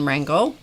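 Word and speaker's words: Wrangel: his grandmother margaret von rangel and rangel is spelled w-r-a-n-g-e-l internationally grown internationally known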